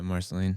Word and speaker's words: Marceline: Or, Michael, how does it actually pronounced? They meet unforgettable characters like Princess Bubblegum. Is it Marceline? Is that right? Yeah, Marceline.